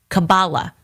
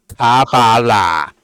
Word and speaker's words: Kabbalah: Kabbalah. Like holy fuck. Doesn't that rhyme with Kamala?